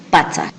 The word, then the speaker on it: Patzaj: También es importante saber o recordar que en Quichua las palabras todas son graves. Por lo tanto, la pronunciación siempre va a tener su mayor fuerza en la penúltima sílaba.